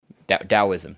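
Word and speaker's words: Daoism: Confucious and uh oh Tao or Dao, however you say it. Um Dowoism, that's how you say it.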